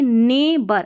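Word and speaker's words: neighbour: नेबर तो ने हो गया और बी ओ यू आर या ओ आर नेबर अब यहां पर देखिए नेबर अब ये जो जी एच है ये साइलेंट है।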